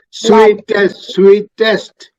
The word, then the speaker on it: sweetest: Sweetest. See, ഇതിലെ the E is pronounced. The E before, between T and S is pronounced sweetest blood.